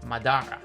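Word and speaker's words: 斑: The meaning boils down to leopard hunt, but he pronounces leopard as Madara.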